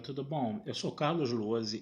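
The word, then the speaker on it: Lohse: Meu canal do YouTube é Carlos Luozi. Luozi se escreve L-O-H-S-E, se escreve com Z.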